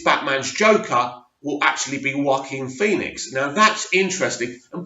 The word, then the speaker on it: Joaquin: But, I've heard people say Joaquin, but I was thinking, it's Joachim. It's spelled Joachim. So anyway, I didn't do very well at school. So thanks for educating me. It's Joaquin Phoenix.